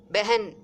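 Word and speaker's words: बहन: வர்றதுனால சோட்டி அப்படின்னு சொல்றாங்க பெகன் பெண்பால்ங்கிறதுனால எழுதுறது பகனா இருந்தாலும் நம்ம வாசிக்கிறது உச்சரிக்கிறது பெகன் அப்படிங்கணும் எழுதும்போது பகன்னு எழுதணும் ஏன்னா இரண்டாவது எழுத்து அகரம் முடிஞ்ச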